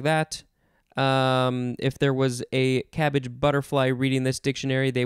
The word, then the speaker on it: CABG: And when I finished recording that episode, my wife said, it's not pronounced CABG, it's actually pronounced cabbage.